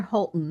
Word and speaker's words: Holton: It's it's it's in it's near Holton, Michigan.